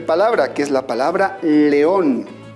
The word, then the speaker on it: león: es la palabra león cuanta estila vas tiene la palabra león correcto tenemos dos sílabas donde se encuentra la mayor fuerza de voz en la última sílaba por lo tanto le voy a colocar tilde vámonos con la última